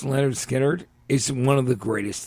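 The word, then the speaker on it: Lynyrd Skynyrd: That record, pronounced Leonard Skinnerd, is one of the greatest things ever fucking recorded.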